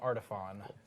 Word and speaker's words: Artiphon: it right yeah people there's no e at the end that's why that's it's not like phone because there's no e okay so welcome back